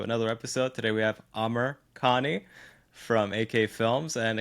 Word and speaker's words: Amr: You just mispronounced his name. What do you mean? Amr. We were just talking about that, but I'm good. You said it as Amir.